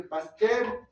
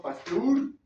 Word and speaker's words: Pasteur: Se dice Pasteur, no Pasteur.